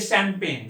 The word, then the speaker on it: champagne: इसका spelling C से शुरू होगा, CHAUFFEUR, सोफा। अब ये शैंपेन, शैंपेन क्या होता है?